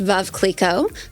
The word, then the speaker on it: Veuve Clicquot: So, it's actually pronounced Veuve Clicquot.